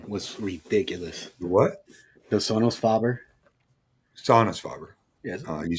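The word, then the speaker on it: Sonus Faber: It's Sonos Faber, man.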